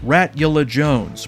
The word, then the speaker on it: Ratula Jones: Corn Niblets, Prophet, Radia, Ratula Jones, pronounced like a rat Dracula, Red Chowder, Replicant, Richter